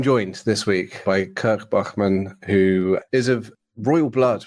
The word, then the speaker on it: Bachmann: My parents will be very excited to hear the pronunciation of Bachmann as it should be pronounced.